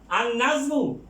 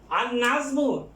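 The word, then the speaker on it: النجم: এখানে আলিফ লাম both will not be pronounced.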